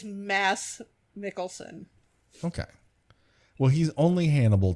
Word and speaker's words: Mads Mikkelsen: It is Mads Mikkelsen. Okay. M-A, I don't know what happened to that D. Is that mysterious, silent D? It's Mads Mikkelsen.